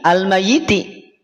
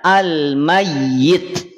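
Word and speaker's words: الميت: dia berubah menjadi sukun sukunnya sukun aridi maka tidak dibaca lagi almayiti terus gimana cara bacanya Kang cara bacanya almayyit almayyit jelas kita dibaca almayiti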